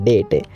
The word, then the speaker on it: debt: ऋण होता है और इसकी प्रोनाउंस भी आप सही से करना क्योंकि इसमें बी साइलेंट होता है डेट डेट का हिंदी मतलब